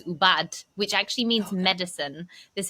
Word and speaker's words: Ubud: And I hope I said Ubud correctly. Is that how you say it? Okay. Yeah. Look, people say it in all sorts of ways. I mean, the Balines, I think the word originally is ubad, which actually means medicine.